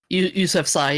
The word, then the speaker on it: Yousafzai: Yousafzai, yeah. That's how they Okay.